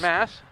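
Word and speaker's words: Maas: somewhere that spell it like that, but all of them I've seen with M-A-A-S is Mass.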